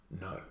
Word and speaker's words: know: The next word is It's got a K at the start, a silent K. No. K-N-O-W. There it is. No.